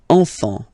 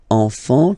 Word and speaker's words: enfant: Don't pronounce the T, you don't pronounce the S, enfant.